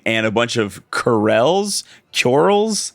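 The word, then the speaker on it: Coeurl: It is pronounced like curl.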